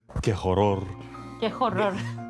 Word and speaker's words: horror: Qué horror. Qué horror. We don't pronounce the H.